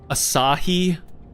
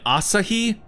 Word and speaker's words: Asahi: Asahi? You mean Asahi? Like, bro, like, how are we existing in 2026? And we're still doing this fucking Naruto Sakura ass pronunciation of Japanese names and words.